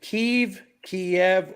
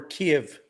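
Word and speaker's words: Kyiv: Modern newscasting will call it Kiev as one syllable, but it's Right. actually two syllables. It's Kiev. It's emphasis on the first syllable, Kiev. Okay.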